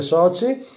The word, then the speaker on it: Sochi: un italiano so chi c'è scritto so chi e si legge soci di faccio sempre con